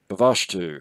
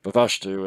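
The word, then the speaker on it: Bvalltu: old man for help avashtu for such approximately was the philosopher's name the double l being pronounced more or less as in welsh bavashtu affected a cure by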